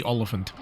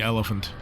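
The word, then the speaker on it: Olyphant: Hitman film with Timothy olant or as I sometimes mispronounce Timothy elephant his rendition of Agent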